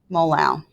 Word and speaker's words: molal: figs two sig figs units would be little m which be pronounced molal what's important to remember